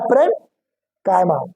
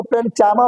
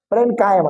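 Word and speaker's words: parenchyma: रहा हूं क्या है प्र कायमा याद है ऐसे कुछ लोग उसको प्रमा बोले नहीं य सी साइलेंट करो प्रन कामा ठीक है प्र कायमा एक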